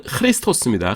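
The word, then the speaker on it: Χριστός: 그다음에 그리스도 원어 발음으로는 크리스토스입니다. 크리스토스.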